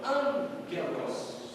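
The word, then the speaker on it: ἄγγελος: Nunca tem um som de G no português, mas o som do G, certo? Por isso a pronúncia de anjo em grego é angelos.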